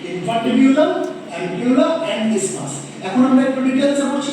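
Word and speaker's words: isthmus: জিনিস আমি বলে রাখি যদিও এর বানানটা আই এস টি এইচ এম ইউ এস আমরা কিন্তু এটাকে ইস্থমাস বলবো না আমরা এটাকে কি বলবো ইসমাস বলবো যেমন দেখবেন এজমা এজমা যদি বানান করো এস টিএনজি আমরা কি এস্থামা বলি যারা বলি তারা ভুল প্রোনাউন্স করি একচুয়াল প্রোনাউন্সিয়েশন হচ্ছে এস্থামা না প্রোনাউন্সিয়েশন হচ্ছে এজমা ঠিক আছে this is নট ইস্থমাস this is ইসমাস বোঝা গেল এবার এই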